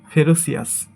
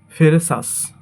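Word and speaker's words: ferocious: এটাকে আমরা বলি ফেরোসিয়াস, বাট সঠিক উচ্চারণ হবে ফেরেসাস। ফেরেসাস উচ্চারণ হবে।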